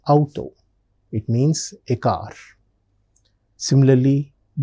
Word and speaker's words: Auto: Like auto, that's how we pronounce it. But in German, we pronounce it as Auto.